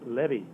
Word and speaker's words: Levy: l v y it's pronounced Levy like Chevy or took my Chevy